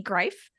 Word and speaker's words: Greif: So I'm very excited to have Marty Greif, Rhymes with Life is what he informed me, on my show.